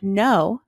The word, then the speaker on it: know: is sounded for example in the word know the K is silent while the sound for